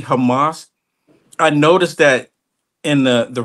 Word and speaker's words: Hamas: If you say it correctly, it's Hamas.